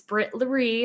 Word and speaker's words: Britt Laree: If you don't know how to say it's Britt Laree.